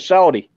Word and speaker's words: Shawty: Her name is Shawty. Okay. Like Shorty, but Okay.